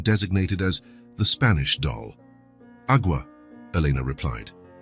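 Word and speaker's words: agua: Awa, Elena replied. It's pronounced awa with a very soft g e.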